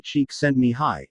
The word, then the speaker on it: Csikszentmihalyi: Mihaly Csikszentmihalyi, pronounced Mihai Csikszentmihalyi, is a Hungarian psychologist and